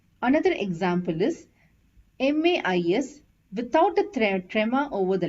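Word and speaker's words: maïs: which means but and this is pronounced as ma is because there is a trema over the letter I and a and I has to be pronounced separately hope you understood the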